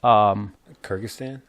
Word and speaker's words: Kyrgyzstan: Was that Kyrgyzstan?